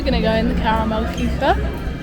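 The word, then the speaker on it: Karamell-Küche: And now we're going to go in the Caramel Kuchen, which is how you pronounce it. Sarah took a German A-level, so she knows her stuff. And gets it's how you pronounce it in Hochdeutsch.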